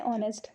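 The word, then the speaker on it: honest: कुछ ऐसे भी वर्ड्स हैं जो कॉन्सोनेंट से स्टार्ट होते हैं लेकिन साइलेंट होते हैं, जैसे ऑनेस्ट, जैसे आर, एन ऑनेस्ट मैन, N higher, N honourable man.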